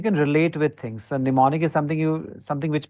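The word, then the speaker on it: mnemonic: a term for hits It's called pneumonic the m is silent so these are called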